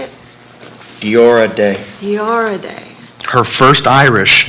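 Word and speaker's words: Deora Dé: Diora Day.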